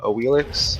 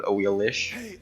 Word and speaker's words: Awilix: the goddess is uh AIX which is how they pronounce in game um if you're an expert supposedly it's called she's called aish the x is apparently pronounced like an sh but who cares so